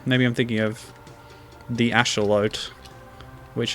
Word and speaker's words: axolotl: I'm thinking of the asholute which apparently is how you pronounce axolotl in its native Mexican oh come on well